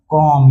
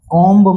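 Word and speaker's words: comb: तो यहां पे देखो एम के बगल में कौन बैठा हुआ है? बी बैठा हुआ है। तो बी क्या हो जाएगा? साइलेंट यानी कि चुपचाप। कोई अपना आवाज नहीं लेगा। कोई अपना साउंड नहीं लेगा। तो ये हो गया सी ओ एम कॉम। ये क्या हो गया? सी ओ एम कॉम। इसे गलती से भी कॉम्ब मत पढ़ देना।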